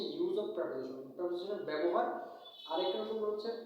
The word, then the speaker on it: preposition: pronoun বুঝবা তো এই প্রপোজিশনের পরে প্রোনাউন হয় এটা মাথা রাখবা এটা মাস্ট প্রিপজিশন বলে অনেকে আমি প্রেপজিশন বলি উচ্চারণটা মূলত প্রেপজিশন তো প্রেপজিশনের পরে তোমার